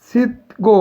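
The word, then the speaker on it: 씻고: এই সিক্কো উচ্চারণ হবে সিক্কো, সোনুল সিক্কো শিপ্পুন দেও।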